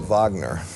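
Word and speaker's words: Wagner: August Vagner to use the German pronunciation was a very robust man.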